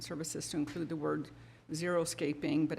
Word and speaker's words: xeriscaping: Oh, okay, so the bullet point 5 said contracting, landscaping, and services to include the word xeriscaping, but it's spelled XERISCAPING, not zero-scaping, though I really like that.